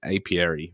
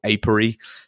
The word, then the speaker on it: Apiary: And that's the hot new Stonemaier game, and that is Apiary, or Apiary. Depends how you want to pronounce it.